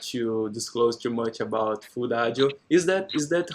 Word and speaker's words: Foodajo: So it is pronouncing together now with the food is food ajo.